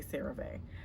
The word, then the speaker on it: CeraVe: I don't know if you pronounce it CeraVe. I say CeraVe, but it's called the Intensive Moisturizing Cream.